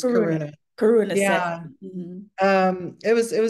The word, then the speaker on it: Karuna: It's Karuna.